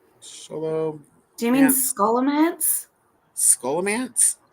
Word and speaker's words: Scholomance: yeah the book was sholom man was that right M okay sholo do you mean scholomance scholomance possibly like school yeah yeah I've heard